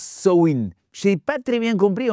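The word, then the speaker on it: Samhain: fête appelée Sahim qu'apparemment au Samin qu'on on prononce Swin.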